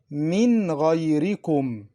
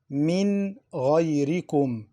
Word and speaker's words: مِنْ غَيْرِكُمْ: In 2 words, مِنْ غَيْرِكُمْ. مِنْ غَيْرِكُمْ. Noon Sakinah is pronounced clearly. Why? Because of the throat letters Ghayn after it.